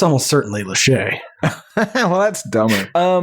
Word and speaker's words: Lachey: Fascinating pronunciation. Don't want to correct you. Lachey? Is it Lachey? It's almost certainly Lachey.